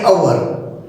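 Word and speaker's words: hour: आता हॉर्स आणि अवर दोन्ही शब्दाची स्पेलिंग ही एचनं स्टार्ट झालेली आहे. पण पहिल्या शब्दाचा उच्चार आहे हॉर्स, हनं उच्चार स्टार्ट झाल्यामुळे तिथं अ आलं आहे. आणि अवर उच्चार अनं स्टार्ट झालेला आहे म्हणून त्या ठिकाणी ॲन आलेलं आहे.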